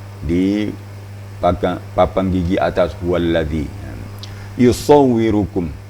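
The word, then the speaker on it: يصوركم: Huwallazi yusawwirukum. Sod juga. Kalau bisa agak melembung pipi sebelah. Sisu, yusawwirukum. Ya.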